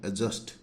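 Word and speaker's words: adjust: और किसी वर्ड में जे से पहले डी हो तो डी का उच्चारण नहीं होता है है ना यानी कि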